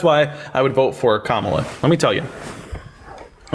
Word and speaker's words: Kamala: you think Kamala is better than Trump it's Kamala do you not know how to say ITA removing his mommy never taught you literacy huh mommy not present gr up criminal accusations what can comma do better than Trump Justice thank you so